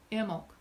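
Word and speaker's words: Imbolc: this word varies but in all of them the B is silent Emel is how is it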